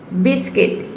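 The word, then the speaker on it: biscuit: है देवी साइलेंट है बिस्कुट बिस्कुट में देखिए यू के बाद आई आया है तो जब भी अगर यू के पद आता है ओ यू आता है तो यू वहां पे साइलेंट राहत है अब नेक्स्ट लेटर ब्लू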